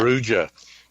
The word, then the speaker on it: Perugia: to mispronounce this, Dad, do you want to pronounce that? Perugia.